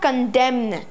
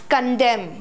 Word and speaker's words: condemn: First of all, it is not condemn. It's condemn. What is it? Condemn. N is silent over here. Means you do not pronounce the word N.